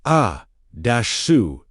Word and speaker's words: Asuta: That is the full teaching Asuta, pronounced A-su-tah, -TAH carries within its ancient Aramaic structure.